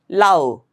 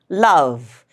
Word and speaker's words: love: Okay, don't say Lao. No, that would be very wrong. Or don't say lub. Don't make it bilabial. It's love.